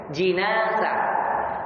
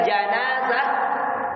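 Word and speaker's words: جنازة: Yang benar kalau orangnya dikasro jim, jenazah. Jadi ini mungkin banyak masyarakat kita mungkin karena mungkin tidak belajar bahasa Arab, tapi makanya saya peringatkan bahwa yang benar kalau dimaksudkan adalah orangnya, cara membacanya di kasro jinnya, jinazah. Jinazah itu orangnya yang meninggal itu. Tapi kalau kita bilang janazah, apanya? Tempat orangnya, artinya kerandanya.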